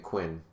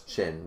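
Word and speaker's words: Qin: like uh or sorry i keep saying quinn because because if if that was an english name it would be quinn but now it's chin because it's chinese so yeah it gets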